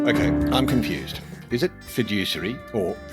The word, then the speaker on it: fiduciary: Is it fiduciary or fiduciary or fiduciary or fiduciary? Well, the Oxford Dictionary says it's fidge, like fridge without the R, usury.